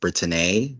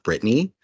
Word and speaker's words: Britteney: Their name is pronounced Britteney, not Brittany.